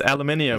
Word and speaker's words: aluminium: it's really good say aluminum and it's only 20 bucks aluminium it's aluminium that's how you say that's how you say it guys it's not dude I